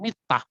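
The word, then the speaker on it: מיטה: Jika dibaca sebagai "mittah," artinya tempat tidur.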